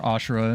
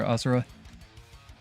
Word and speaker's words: Asura: Pretend you're Ashura, and maybe you can do it. Or Asura. Depending on your pronunciation.